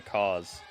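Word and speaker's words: CAWS: House of Black is trying to indoctrinate another couple of people to join the cause.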